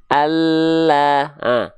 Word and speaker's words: Allah: Samping lidah depan yang kanan, samping lidah depan yang kiri, dan menyusur sampai ke ujung lidah, sampai sini, disentuhkan ke langit-langit begini. Begini. Maka contoh pelafalannya akan terlihat seperti ini. Allah.